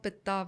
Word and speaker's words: pitta: We say kaf, pit, vat. But it's actually kapha, pitta, vata, dosha.